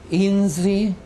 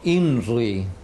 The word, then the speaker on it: INRI: Cristo solar Pues bien inzi eh pronunciado a la Serrana no inri como decimos habitualmente sino inzi eh con la r es ese tipo de r que existe en otras lenguas existe por ejemplo en